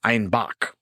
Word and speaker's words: Einbeck: And due to their Bavarian accent, citizens of Munich pronounced Einbeck as Einbach.